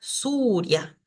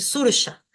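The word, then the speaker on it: sūrya: de la palabra entonces Acá tengo que pronunciar suria suria no puedo decir surja tengo que decir suria sol esta ya le hemos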